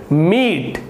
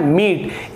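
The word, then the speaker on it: meet: कैसे, देखिए ये हो गया मीट, ये क्या लिखा हुआ है मीट, इसे आप मेटे नहीं पढ़ेंगे, जैसे मैंने यहाँ पे बताया था, तो इसे आप मेटे नहीं पढ़ेंगे।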